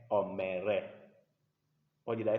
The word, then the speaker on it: mère: So because of this sign on top of the letter E, the pronunciation changes to E. So don't say peureux or mereux, no. It's père, mère.